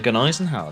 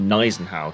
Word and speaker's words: Gneisenau: Let's be a Gneisenau then. See how this goes. Or Gneisenau, because apparently you don't pronounce the G.